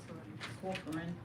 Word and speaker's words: Corcoran: Presentation from forensic audit Richard Corcoran, how do you pronounce it? Corcoran.